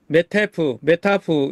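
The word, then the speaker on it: Meta F: 발음을 할 때 메타프 이 정도 발음하면 콩글리시로 괜찮아요.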